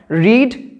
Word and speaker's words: read: রিডের third ফর্মে স্পেলিংয়ের দিক থেকে কোনো চেঞ্জ হয় না, প্রোনাউন্সিয়েশনে চেঞ্জটা হয়। রিড, রেড, রেড, উচ্চারণ হবে রেড, কিন্তু প্রোনাউন্সিয়েশনের রেসপেক্টে স্পেলিং কিন্তু রেড হবে না, সেম স্পেলিংই থাকবে, কিন্তু কখনো সেটাকে রিড উচ্চারণ করলে হবে না। ওকে, উচ্চারণ করতে হবে রেড।